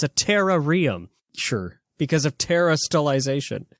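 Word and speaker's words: Terarium: you work with a professor in the the terrarium in the blueberry Academy excuse you it's called It's pronounced the terrarum oh the ter terrarum thank you for making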